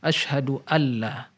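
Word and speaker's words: أشهد أن لا: jadi seolah disini Nurmiati nun sukun nya tidak diucapkan tapi langsung diilhamkan asyhadualla asal muasal LKS Aduh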